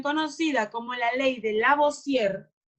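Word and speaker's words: Lavoisier: como la ley de la voz sierra así se pronuncia esto la voz tierra olemos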